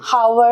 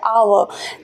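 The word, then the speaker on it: hour: नहीं बोलते हैं ना हम हावर हावर नहीं बोलते हैं हम बोलते हैं आवर तो मतलब एच जो हमारा कसोनेंट लेटर है वो यहां पे साउंड प्रोड्यूस नहीं कर रहा है वो साइलेंट है और ये वाला पार्ट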